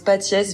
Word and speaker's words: Patiès: Alors du coup, ça se prononce Patiès vu que c'est un nom italien, on prononce toutes les lettres. Mais j'ai tendance à mettre un accent pour que les Français prononcent le S.